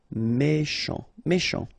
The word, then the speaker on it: méchant: Final T not pronounced. C-H together, sh. Méchant.